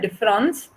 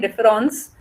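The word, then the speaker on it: différance: himself in the fact that the a in difference is only red but cannot be heard and therefore the french were difference the english word of difference and difference uh spelled with an are pronounced the same so what derida wants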